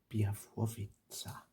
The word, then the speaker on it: Białowieża: Białowieża forest.